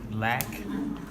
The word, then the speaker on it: lack: Some words there couldn't get like lack. Lack? I think you said something different. Lack. So yeah, lack. Lack. Oh, Yes. okay, I say lake. Yeah. I know. So I heard lack.